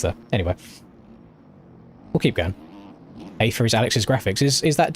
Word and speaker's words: Aether: We've then got Dylan on the Aether? Pretty sure that's pronounced Aether.